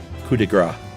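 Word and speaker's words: coup de grâce: is the latest and Josh said the phrase coup de gras uh where he correctly left the P silent but incorrectly said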